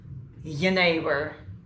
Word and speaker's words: Jenever: Now, the right pronunciation is Jenever, and Jenever is fantastic spirit.